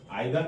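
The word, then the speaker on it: either: आइदर नाइदर को इधर निदर भी प्रोनाउंसिएशन होता है, तो दोनों सही है।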